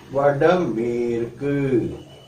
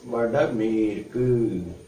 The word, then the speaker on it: Vadamerku: The same way, northwest, north is Vadakku and west means Merku. So we pronounce it as Vadamerku. Once again, for northwest we say as Vadamerku.